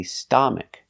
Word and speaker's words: stomach: not a like father it's not an a it's a short sound uh like cup and up and cut uh St St stomach stomach put the stress on the first syllable stomach stomach a closed